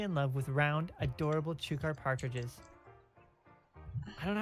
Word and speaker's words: chukar: I am helplessly in love with round, adorable chukar partridges. I don't know how to pronounce this word.